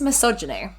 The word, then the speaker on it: misogyny: it, and that is misogyny. Yeah, I really struggle to spell it. Yeah, it's like miso soup and then gynae.